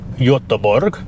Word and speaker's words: Göteborg: I remember flying into Gothenburg Airport, Göteborg, I think they pronounce it there, and they had a brand new XC90 on a plinth at the arrivals hall.